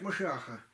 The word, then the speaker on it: Машиах: Иногда произносят по-еврейски, думают, что это другое. Почему? Евреи ожидают Машиаха. А Машиах это мессия и есть. У них буква Ше везде.